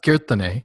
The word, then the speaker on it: Kirtane: Second, as you know, it's actually pronounced Kirtane. Oh, Kirtane, sorry.